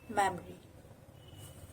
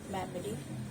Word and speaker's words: memory: Memory. O here is silent and it's memory, not memory.